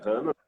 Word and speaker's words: Hannah: Hannah é hebraico. Nome hebraico. Até a pronúncia é bem hebraica. Ana em português, Hannah mesmo, começado em hebraico.